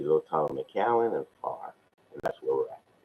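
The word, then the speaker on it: Pharr: a little town called far that's spelled p-h-a-r-r like phone you know if you don't say pon both say well that's how we pronounce our city here far e-h-a-r-r and that's 60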